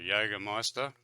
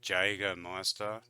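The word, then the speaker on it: Jägermeister: alcohol this that's a Jagermeister so I hear um some people say Jagermeister and not with the ya the Jager and Meister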